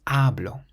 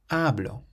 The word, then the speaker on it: hablo: This next word is the same as habló, but there's no accent. So now the emphasis is placed on the syllable before last, so we say hablo, hablo, meaning I speak.